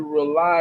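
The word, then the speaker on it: RAULI: From 8:30 to 10:30 is the Rely Radio Show on Real Talk 100 Radio. It's spelled Rely on purpose, R-A-U-L-I. It stands for Rebooting and Uniting Lost Energies, everybody.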